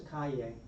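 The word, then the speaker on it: calle: So po yave yave yubia yubia what's a cay we're going to talk street yeah we're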